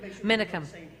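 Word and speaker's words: Menakem: class with him and I never got at the correct way to pronounce his last name I guess minicum yes that's it okay got it thank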